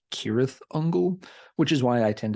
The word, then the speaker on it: Cirith Ungol: that Elvish tongue however words that begin with the letter c tend to have the hard k sound almost all the time so the name should be pronounced kirith Uncle which is why I